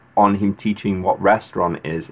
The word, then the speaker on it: restaurant: and they're the same ent and a and t is pronounced ang at the end like restaurant would be restaurant we do not sound the t so again what is